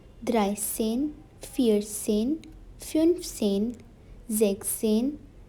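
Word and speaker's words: sechzehn: is 15 in german sex and seine is zexin now this is an exception that s in between is cut zebzen it is 17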